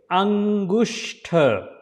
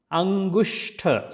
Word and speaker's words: Angushta: Then you will see next word is Angushta. Angushta. So this is a sh sound, not s. That's why there is s and h. So Angushta, and it is a th. So you have to slide the tongue over your hard palate. So that will be exact sound like th.